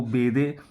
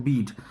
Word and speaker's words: Bede: बहुत लोग इसका प्रोनाउंसिएशन जो करते हैं वो बेदे, जो कि ना गलत प्रोनाउंसिएशन है। एग्जैक्ट प्रोनाउंसिएशन इसका होता है बीड।